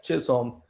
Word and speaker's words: Chisholm: up in chat but that is how you pronounce the man's name Jazz Chisholm uh and I guess that's on my mind